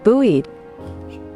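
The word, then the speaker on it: buoyed: B U O Y E D. Buoied. Buoied.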